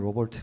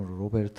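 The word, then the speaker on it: Robert: 독일 의 약자 인데요 영어식 발음을 하면 로 볼트 입니다 근데 이제 독일 발음 로 벨트 라고 그 사람이 1877 년에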